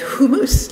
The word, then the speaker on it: hummus: soup and bread and hummus which eli pronounces properly as humus like his friends in jerusalem where he lives in